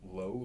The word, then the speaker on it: Low: Low la. L O W. We we pronounce it low.